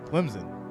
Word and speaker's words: Clemson: make it happen JBL let me hear your pronunciation of Clemson yeah it's Clemson bro Clemson c-l-e-m-s-o-n Clemson yeah yeah I'm funny man you